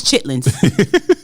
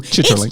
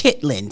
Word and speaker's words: chitterlings: And I'm gonna pronounce it the correct way. Chitterlings. No, it's chitlins. See, that's what the bougie people do. Chitterlings. It's chitlins.